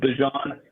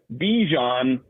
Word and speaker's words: Bijan: His name is actually, like, the way his mother refers to him is Bijan, but he said that he's called himself Bijan basically his entire life.